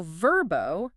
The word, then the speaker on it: Vrbo: It's now Verbbo, capital V, lowercase RBO. Right. And the official decree on pronunciation, it is verbbo.